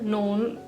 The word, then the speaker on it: nogle: और जो दूसरे सेंटेंस में एन ओ जी एल इ है इसमें भी जी का साउंड नहीं आएगा एल का भी नहीं आएगा सेम प्रोनंसिएशन इवन दो इसमें एल है जी है पर ये साइलेंट है इसको भी आपको पहले वाले ही की तरह नोन नोन कह रहा है रिटन में नोन और